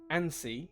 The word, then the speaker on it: ANSI: shouldn't be initialized however ansi or ansi is not a word it's technically an initialism so it should always